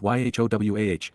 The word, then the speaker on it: Yahowah: considered the fact that God's name is pronounced y wah that the set aart